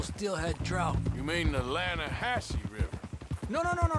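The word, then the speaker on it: Lannahechee: no no the the lahache it runs right near here yeah but it's pronounced lanahassee why is everything in English said differently than it's written make us feel stupid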